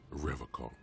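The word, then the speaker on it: Revachol: strong for Revol Revol he pronounces Revol with a hard K unlike other people really I didn't notice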